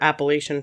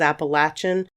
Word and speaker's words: Appalachian: indian tribe and so i think the proper pronunciation is appalachian but it kind of depends on where you're from where i'm from we say appalachian so that's how i'm going to say it the appalachian mountains themselves